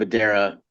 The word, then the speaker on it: Adara: Is that how you Adara. say? Adara, I Yeah.